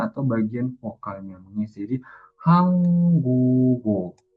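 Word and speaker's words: 한국어: Jadi bukan hangguk-o, tapi hanggugo. Hanggugo. G-nya naik ke bagian si iyengnya atau bagian vokalnya mengisi. Jadi Hanggugo.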